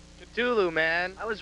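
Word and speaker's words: Ktulu: of Ride the Lightning the exact pronunciation culu man I was right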